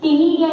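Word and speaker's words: ctenidia: सी इसमें साइलेंट है, तो ये सी टी ई एन आई डी आई ए, है ना, टिनिडिया इनको बोलते हैं।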